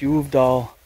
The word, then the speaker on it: Uvdal: check out the uh I think it's pronounced y doll St church I mean